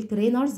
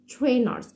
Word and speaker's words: trainers: sneakers trainers محدش يقول trainers لا اسمها trainers. التي والار لما بيجوا ورا بعض بنحط بينهم زي صوت الشا ساوند كده فبقول trainers.